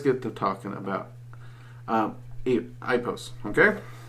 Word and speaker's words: Ipos: um I post okay I've always heard it pronounced I post I have heard a few people pronounced it posts um I've tried that pronunciation and ritual um I didn't get good results but but but I have to admit that's probably because it didn't flow very well well linguistically with me um I post just seems to flow better for me pronunciation wise and that flow can